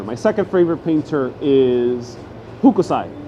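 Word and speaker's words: Hokusai: second favorite painter is hukusai i might be mispronouncing him i think his his name is pronounced hookasai the japanese painter who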